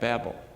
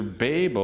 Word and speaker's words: Babel: confounded by God at Babel. Now, how do you pronounce that? Well, did you know the dictionaries have 2 different pronunciations? It's either B-A-H-B-E-L or B-A-Y-B-E-L. So it's either Babel or Babel.